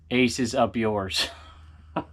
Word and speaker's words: Aces Up URS: have read this first it's pronounced as aces up yours oh my just in